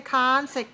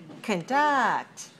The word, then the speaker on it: conduct: many syllables conduct two where's the stress two two second syllable so don't say consec can can conduct watch me watch me conduct right okay when you